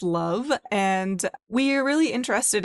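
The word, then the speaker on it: LOVB: Yeah, we aim to be a little bit different at Love or League One volleyball pronounced love.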